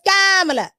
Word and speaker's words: Kamala: Her name is Kamala.